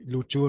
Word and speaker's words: Ryukyu: como también se dice, ryukyu sería la pronunciación japonesa, y luchu en realidad sería más la pronunciación okinawense.